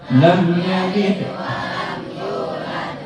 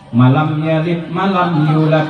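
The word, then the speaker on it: لم يلد ولم يولد: Jadi salah paham ustaz boleh baca wallah malam maksudnya bacaannya yang benar kan lam yalid walam yulad bukan malam yalid malam yulad malam yalid yulad jadi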